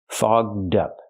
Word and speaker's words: fogged up: And don't make the ct sound. That's a bad word. We have to use the open vowel a and the voice g and d fogged up. To help with pronunciation, link the d sound to the second word up.